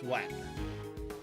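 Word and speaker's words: Nguyen: get someone who's Vietnamese and their name is when but it's spelled uh NG g u ye n but you pronounce it as when is it like is it like a a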